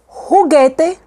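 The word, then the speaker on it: juguete: you have this combination you don't pronounce the you so you say gera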